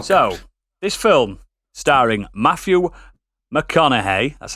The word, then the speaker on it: McConaughey: film as well so this film starring matthew mcconaughey that's how you say it kate beckinsale patricia